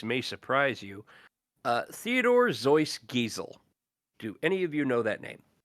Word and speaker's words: Seuss: better known as Dr Seuss oh I know where you're going Zeus is actually how it is pronounced like a z right okay Dr Seuss